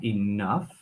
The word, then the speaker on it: enough: just remember students of pronunciation of enough with that F sound enough otherwise is a really